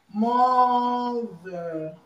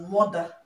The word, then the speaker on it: mother: word mother okay mother in this country we pronounce this word as mother okay mother my mother but the right pronunciation is Mother Mother okay because this th this th is pronounced that's why it has this sound it has this sound